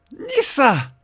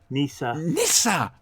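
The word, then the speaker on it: Nyssa: Nissa! You got to say it like that. Nissa.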